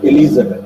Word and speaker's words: Elizabeth: Elizabeth Elizabeth Elizabeth okay the pronunciation is Elizabeth okay it's not Elizabeth it is the the E is long vow okay Elizabeth so now